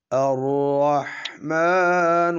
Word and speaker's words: الرحمن: पेश ख़त्म कर दें अर्रहमान الرحمن अब बिस्मिल्लाह पे हम वक़फ़ नहीं करेंगे, इसको रहमान के साथ मिलाएंगे तो जो अल का हमज़ा है वो भी साइलेंट हो जाएगा, बेशक उसके ऊपर ज़बर लिखी हुई है।